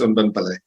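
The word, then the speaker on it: Anban Pillay: So here is Unben, but you can correct me if I pronounce the name very well. Over to you, Doc. Thank you, Foster. No, the pronunciation is perfect. It's Unben Pillay.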